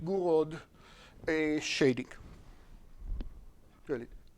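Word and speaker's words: Gouraud: part which would be for me to say gur which I believe is how the web told me to pronounce it guro a shading really G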